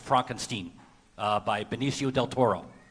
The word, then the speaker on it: Frankenstein: I was saying that Netflix debuted a new film last week by Benio Del Toro, but it should be pronounced Frankenstein, not Frankenstein.